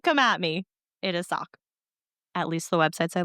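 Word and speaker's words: Sauk: And it's spelled S A U K, but it's pronounced Sock. Interesting. Yep. I looked it up for everyone who might come at me. It is Sock.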